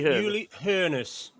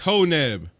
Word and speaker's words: Hoeneß: Uli Hoeneß. There ain't no R in that surname, man. Hoeneß. It's Honeb. Hoeneß. The neb, the B on the end is a German double S.